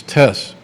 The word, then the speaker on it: Tess: give clearance to, and we learned the new correct pronunciation of Derritter's first name, it's Tess.